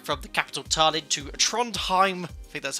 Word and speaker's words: Trondheim: in Estonia flight from the capital talent to Trondheim figure that's how it's pronounced in Norway our first ever time on